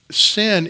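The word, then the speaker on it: synne: It comes from an old English word that would be pronounced the same, sin, S-Y-N-N-E.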